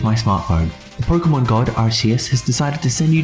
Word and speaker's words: Arceus: It is pronounced Arceus, MD House said so.